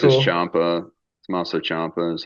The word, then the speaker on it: Ciampa: Champa. Tommaso Ciampa is how they've always Champa. kind of said it. Champa.